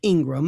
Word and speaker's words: Ingraham: Now, Laura, Ingraham is pronounced Ingram, and I thought that's kind of interesting.